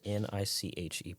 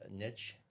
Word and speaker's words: niche: How is NICHE pronounced? You said it earlier, and yeah, I've heard it's it pronounced niche and niche.